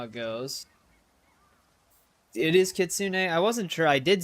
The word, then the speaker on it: kitsune: It is Kitsune.